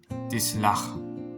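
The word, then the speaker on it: תסלח: Entonces aquí la pronunciación de esta palabra es tislach, que significa perdonarás, es decir, tú perdonarás.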